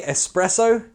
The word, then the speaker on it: espresso: How do we say espresso? We changed the S for an X.